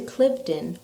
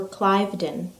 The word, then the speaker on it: Cliveden: welcome to Clifton or Cliveden it's pronounced both ways before we introduce the